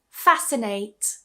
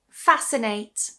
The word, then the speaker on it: fascinate: Fascinate. Fascinate.